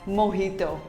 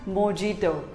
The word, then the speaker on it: mojito: it is pronounced as mohito not mojito simply say mohito the j is pronounced as h though what do you